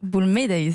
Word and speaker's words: Boulmedaïs: Je prononce bien votre nom ? Boulmedaïs.